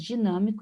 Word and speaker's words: dinâmico: Essas palavras, elas são paroxítonas, porque elas têm a penúltima sílaba mais forte. Agora, observem as palavras dinâmico e trôpego.